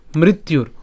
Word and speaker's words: মৃত্যুর: এরপর হি ধ্রুব মৃত্যুর, ওই যে বলেছি রেফ পর্যন্ত আমরা নিয়ে আসবো, তাহলে মৃত্যুর, এই আমি যেহেতু এখানে আপনারা ইতিমধ্যে অনেকেই বুঝে গেছেন যে জফর উচ্চারণ ইয়ের মতো হবে, তো সেই জন্য এটা